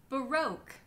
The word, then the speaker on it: baroque: The exception to this is if you see the combination of graphemes q-u-e, and only if you see that combination at the end of words. If you see those at the ends of words, it means that it's just pronounced as a k. Like in the words plaque, torque, bisque, baroque.